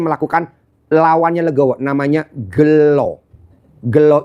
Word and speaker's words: gelo: Gelo itu tulisannya gelo tapi bacanya gelo.